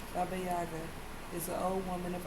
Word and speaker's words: Baba Yaga: To the Slavic people of Eastern Europe, Baby Yaga, pronounced Baba Yaga, is an old woman of autumn whose spirit lived in the last kernel of harvesting grain.